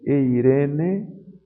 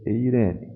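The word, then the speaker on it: εἰρήνη: Então vejam aqui, Eirene. Vejam que aqui a aspiração está colocada sobre a segunda vogal do ditongo. Já que a aspiração breve, branda, não afeta a pronúncia, eu vou ler Eirene.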